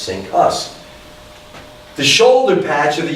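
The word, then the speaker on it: CINCUS: Navy command was called Sink Us. Can't make this stuff up. Pronounced Sink Us.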